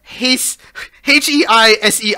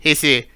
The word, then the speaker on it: Heisei: We were in the Heisei era. I don't know how you pronounce that. That was from No, 19... no. You pronounce it the way you pronounce Malay.